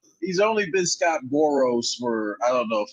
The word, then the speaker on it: Boras: It's not Boros. Pronounce it right, will you? Oh, I'm the one. Learn how to pronounce the guy's name. He's only been Scott Boras for, I don't know, 5 years now.